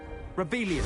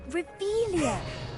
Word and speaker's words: Revelio: Rebellion. Saying it wrong. Ugh, Revelia.